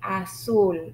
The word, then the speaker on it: azul: So the sound is S even for the letter Z.